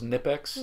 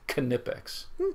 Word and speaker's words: Knipex: one of the reps I always thought it was nipex yeah and it's K ni i p x and they pronounce it knipex fancy do you have